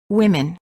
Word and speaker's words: women: the food beans also in the word women the O is pronounced as I women word pairs big city